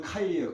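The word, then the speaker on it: 开: 버렸어요 떼내 버고 이거를 중국 발음이 뭐냐면 카이요 카이 그 개발 하면은 카이화 이렇게 발음 하거든 카이파 개발하는 거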